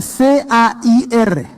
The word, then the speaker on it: CAIR: derechos civiles para musulmanes conocida como Kair y se pronuncia C a I r. Cair.